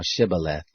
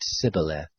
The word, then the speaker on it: Shibboleth: If he said no, then they said to him, Say now Shibboleth. And he said Sibboleth, for he couldn't manage to pronounce it right.